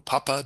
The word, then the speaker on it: pupa: I'm sure you probably know from your science lessons at school that chrysalis is an insect pupa or papa, depending on how you pronounce it, that basic organism before it hatches to become a butterfly in the case of moths and butterflies.